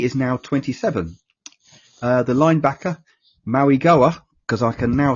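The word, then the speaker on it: Mauigoa: The linebacker, Maui Goa, because I can now say it properly.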